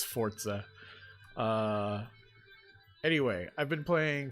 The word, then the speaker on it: Forza: i have been playing forza which by the way it's pronounced forza i think that sounds like the way it would be pronounced if someone didn't know how to pronounce it but it's forza uh anyway i've been